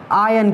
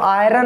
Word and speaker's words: iron: तो वो आयरन नहीं होता, आर साइलेंट हो जाता है, क्या हो जाता है यहाँ पे, आर साइलेंट, तो हो जाता है आयन।